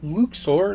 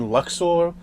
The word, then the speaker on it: Luxo: seen the main character, because it is the Luxor lamp. I've been saying Luxo for the longest time, but apparently just recently I found out it's pronounced Luxo.